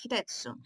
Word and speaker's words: Hitetsu: Alright, so Hitetsu is saying, did I say his name right? Yes, Hitetsu.